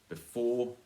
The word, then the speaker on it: before: Before, it's before, not before. Before. No, before. Stress on the second syllable.